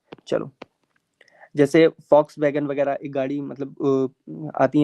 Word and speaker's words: Volkswagen: वही स्पेलिंग उसकी V से ही शुरू होती है। पहले मैं भी उसको Volkswagen पढ़ता था। लेकिन फिर पता चला कि यह Foxwagen है।